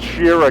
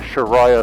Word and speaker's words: Shira: It's pronounced Shira Camp, by the way. I don't know where I got the Sharia thing from, but yeah, I just